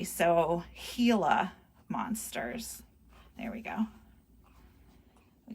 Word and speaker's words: Gila: have three of these hila monsters here it's spelled with a G but it's actually pronounced with an h e so hila monsters there we go